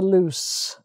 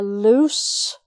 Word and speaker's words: loose: be out basically the loose okay and i prefer to wear loose clothes they're more comfortable loose as an adjective loose clothes s sound okay right then finally for